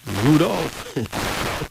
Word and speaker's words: Rudolph: yeah and you rol okay but it is pronounced mainly as Rudolph yes the ru is Ru yes r o